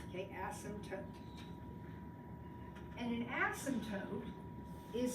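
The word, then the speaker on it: asymptote: ASM toote before the word does have a p in it but the p is silent so it's ASM tote okay ASM toote and an ASM toote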